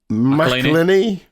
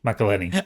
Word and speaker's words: McElhenney: It's Always Sunny in Philadelphia star Rob McElhenney. McElhenney. I only put this story in just so you had to pronounce his second I name.